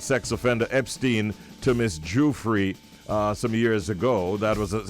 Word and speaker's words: Juilet: I'm not going to call her again. It's Miss Juilet.